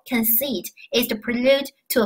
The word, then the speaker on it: prelude: 这三个单词，那么首先 prelude，注意发音哈，prelude 重音在第一节，它你看